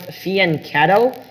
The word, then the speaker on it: fianchetto: english word uh this so this italian word pronounced fiancado spelled f-i-a-n-c-h-e-t-t-o fian cattle means on the flank